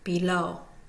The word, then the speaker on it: below: numerical notation of 01 the first syllable is unstressed the second syllable low is considered primary stress below going to hear the low more so than the B let's look at silly